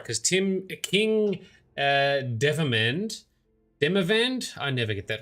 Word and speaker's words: Demavend: While admittedly putting more effort into the latter, after Demavend, so Demavend, that's how you say it, after Demavend's demise, pretenders to the crown sprang up like mushrooms.